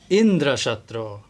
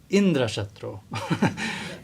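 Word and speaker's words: इन्द्रशत्रु: he said Indra shro he put the accent on the first syllable and then the meaning changes it's it became one whose killer is Indra that's the meaning of Indra chatro so he said it wrongly by krishna's Arrangement and then this vitra came and he got killed by Indra because because he said it wrongly he said it Indra shro instead of Indra chatro this is how accent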